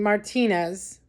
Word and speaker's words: Martinez: walking in Martinez and I'm going to say Martine because that's the proper way to say it I'm not going to whitewash the word Martinez and say Martinez that's not the proper way to say it it's Martinez okay so anyway I mean